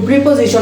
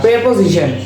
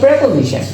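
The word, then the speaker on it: preposition: verb আর একটা প্রেপজিশন একসাথে যুক্ত হয় এটা প্রিপজিশন না প্রেপোজিশন আমরা যেহেতু বাংলা সাবকন্টিনিয়াস বাংলা সাবকন্টিনেন্সটা আছে ইংলিশ আমরা এটা ইন্ডিয়ান যে ইয়াটা কি বলে লিঙ্গুয়েস্টি যেভাবে উচ্চারণ করে সেভাবে আমরা উচ্চারণ করতে পারি ওরা বলে প্রেপজিশন এক্ষেত্রে আমরা প্রেপজিশন বলতে পারি তাছাড়া প্রিপজিশন বললে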